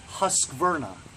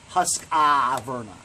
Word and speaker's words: Husqvarna: sound like an idiot it's puss Verna not husk ah Verna hast Verna that's it